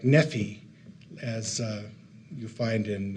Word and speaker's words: Nephi: Um, and, uh, by Nephi's day, uh, the R had be had come to be pronounced with a e. So it would have sounded like nephe as uh you find